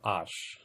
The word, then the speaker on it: आश: अच्छा, तो आस और आश ध्यान दीजिएगा उच्चारण में भी, ठीक है।